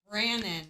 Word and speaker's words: Brannon: Is it Brandon or Brennan? I don't remember the dude's name. It's Brannon. Brannon. You keep saying Brennan.